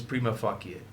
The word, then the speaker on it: prima facie: have, by the way, you will hear people pronounce that differently, which is fine. But I promise you, the correct pronunciation is prima facie.